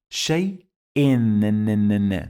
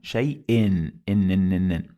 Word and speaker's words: شيء: Shai-in. Do you hear this sound of noon? Shai-in. This is because we have here hamza, and under it you find two kasras.